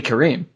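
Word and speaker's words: Karim: have to see it to be able to pronounce it properly so hey Kareem yes you're lucky I don't have a freaking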